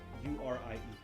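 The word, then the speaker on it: Urie: sign photos of brendan yuri brendan i may be mispronouncing discerning brendan you are i.e and brendan is spelled b-r-e-n-d-o-n it's american singer american singer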